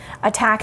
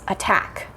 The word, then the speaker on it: attack: Attack has two syllables, attack. And the syllable that we stress is the second one. We don't say attack, we say attack, attack.